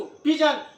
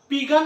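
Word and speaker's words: pigeon: पेज पढ़ो ना, पेज मतलब पृष्ठ, पिजन, क्या पढ़ेंगे इसको? पिजन। पिगन नहीं, कभी नहीं, पिगन नहीं बोलना, पिजन।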